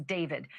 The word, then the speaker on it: d4vd: literally for the singer known professionally as David, spelled D4 VD. I know it's strange, but it's pronounced Dave.